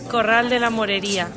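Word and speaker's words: Corral de la Morería: Can you pronounce it properly, please, Vi? Corral de la Moreria.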